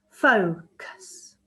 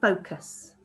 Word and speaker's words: focus: Focus. See how it goes quieter? Focus.